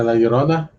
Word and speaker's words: La Llorona: Yeah, La Llorona.